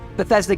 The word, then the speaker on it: Bethesda: much for joining us today and welcome to Bethesda game studios Bethesda that's how you pronounce it I wasn't sure I didn't want